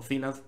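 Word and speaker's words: Cylance: si lo hemos dicho el Silence o cilance como lo pronunciamos aquí tuviste un 2017 increíble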